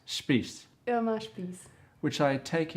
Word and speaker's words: Spies: Hi everyone, this is Michael Sanders on my Go See show, and today's lovely Go See is Irma Spies, Yeah, that's actually pronounced Spies, Irma Spies.